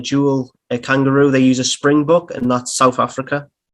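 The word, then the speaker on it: Springbok: the on the jewel kangaroo they use a spring book and that's South Africa right Africa yeah that's that's pronounced Spring Book I I've heard I see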